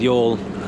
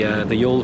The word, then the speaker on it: Youghal: And the same with Youghal. We literally just edited and published the Youghal video.